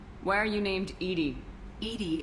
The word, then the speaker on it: EDI: are you named Edie Edie is the phonetic pronunciation of EDI that is an act